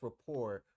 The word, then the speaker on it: rapport: Why is it pronounced rapport when it looks like report?